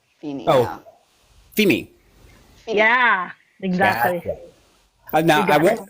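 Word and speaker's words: Vini: part of my name it's v i n i but you pronounce the V like an F FEI yeah exactly now I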